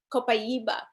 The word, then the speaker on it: Copaiba: Copaiba.